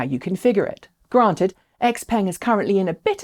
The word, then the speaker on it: Xpeng: Sticking with Chinese brands, Xpeng, and yes, that is the official Western pronunciation of the company's name, Xpeng, has just loaded a transporter with the first G3 crossovers to head to Europe.